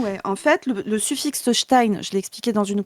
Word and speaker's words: Stein: En fait, le suffixe Stein, je l'ai expliqué dans une capsule, je le réexplique ici. Le suffixe Stein qui est un suffixe germanique se prononce comme ça en allemand.